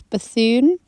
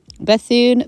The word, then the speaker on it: Bethune: is red white and Bethune now now pronunciation Amy I thought it was Bethune it might very well be I have had to look it up several times and it's bassoon bassoon Bethune either way I have